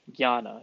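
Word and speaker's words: jnana: G N A N A. Gana. It's Gana. It's hard to it's hard to pronounce, but this is basically knowledge knowledge yoga.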